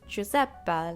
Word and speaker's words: Giuseppe: It's Giuseppe, like Dante, like Catch Me If You Can, working on my tan, Salvatore.